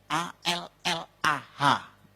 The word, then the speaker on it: Allah: Cuma dia membacanya, ngejanya beda sama kita. Kalau kita cukup Allah gitu. Kayak bercanda sama teman aja, Allah lu gitu aja tersinggung gitu ya. Kayak begitu, ringan gitu. Bacanya itu ringan. Tapi kalau mereka itu terpengaruh dengan bahasa Arab. Jadi nggak ringan, Allah. Nah gitu.